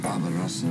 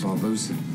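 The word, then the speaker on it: Barbossa: Barbarossa is right. Hang on a minute, it's Barbosa. Sorry, I got your name wrong.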